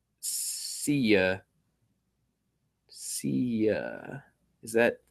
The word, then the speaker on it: Sia: It's pronounced Sia.